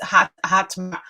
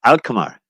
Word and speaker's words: Alkmaar: It's Hatmar. Ahmar. It's difficult to pronounce. Alkmaar.